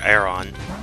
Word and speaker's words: Aron: I know we found Aron. I'm actually going to catch, or Aron. It's like iron, except it's spelled, you can see, with an A instead of an I.